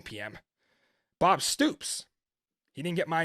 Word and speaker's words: Bob Stoops: I don't think Bob Scoops. See, this is what I get for trying to rush to the game. Damn you, Seattle, for playing at 9 p.m. Bob Stoops.